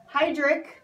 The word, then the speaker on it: Heidrick: a little bit about heidrick pronounced Heidrick & Struggles they are